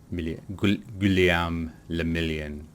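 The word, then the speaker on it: Guillaume Le Million: Kulemin le million. If it doesn't rhyme, you're not pronouncing it right. Guliam le million.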